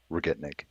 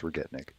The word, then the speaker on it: Regitnig: pron pronunciation yeah so people see the G's and not sure if they're yeah hard or or soft so it it is hard G's retnik okay retnik Ma retnik perfect um but yeah